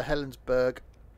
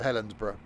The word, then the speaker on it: Helensburgh: I think it's pronounced like pronounced like Edinburgh, so Helensburgh.